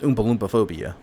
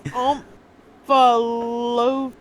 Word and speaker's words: omphalophobia: And you're sure this is pronounced Oompa Loompa phobia? No, I told you I might not be able to pronounce it. Okay. It's Omphalophia.